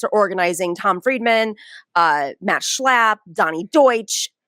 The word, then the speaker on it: Schlapp: It is a video of Matt Schlapp, who I don't know if you know is he's the spokesperson for the Democratic Party. Sure, I just had to say his name. Schlapp.